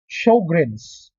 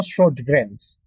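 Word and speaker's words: Sjögren: SLE, we have the Sjogren's. That is how we pronounce that. Hindi po Sjogren's. We pronounce it as show, as in show, palabas, greens, Grin.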